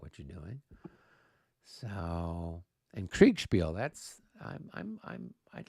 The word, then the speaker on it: Kriegspiel: So what's Kriegspell that you're talking about? So Kriegspiel is a Kriegspell? Kriegspiel.